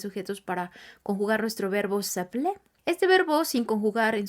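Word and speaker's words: s'appeler: vamos a decir nuestro nombre utilicemos el verbo saple que es el verbo llamarse una vez más vamos a utilizar el pronombre personal sujeto todos los diferentes pronombres personales sujetos para conjugar nuestro verbo saple este verbo sin conjugar en su forma infinita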